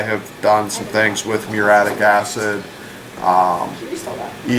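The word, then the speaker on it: muriatic: M u r i a t i c pronounced muratic acid natural gas.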